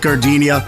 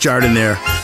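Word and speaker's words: Jardinière: Hey guys, when you're at the counter, don't call it Gardenia. It's pronounced Jardiniere.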